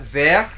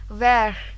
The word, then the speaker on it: vert: Yes, Sirali, can you spell for them the color vert? Vert.